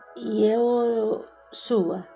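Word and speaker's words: יהושע: O nome de Josué em hebraico é Yehoshua. Com o tempo, esse mesmo nome passou a ser pronunciado como Yeshua, Jesus.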